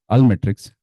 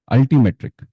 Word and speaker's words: Altimetrik: So we have Malolan with us, who is an assistant manager of talent acquisition at Almetrics. Am I pronouncing it right? Altimetrik.